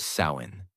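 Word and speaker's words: Samhain: The night of the festival called Samhine, pronounced sain.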